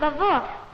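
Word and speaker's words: Lwów: It's pronounced Vavuk. My mother told me so, and she was born there.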